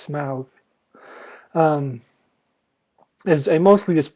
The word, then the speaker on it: Smaug: uh the desolation of smog smog is that how they're pronouncing it I always thought it was smog I guess it's smouth um is a mostly